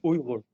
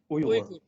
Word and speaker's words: Uyghur: The word Uyghur, we pronounce in our language, in Uyghur language, Uyghur. Uyghur.